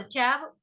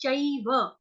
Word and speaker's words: चैव: च एव, चैव हिंदी में बोलेंगे, संस्कृत में चई बोलेंगे। च के साथ आई की मात्रा, चैव, चैव।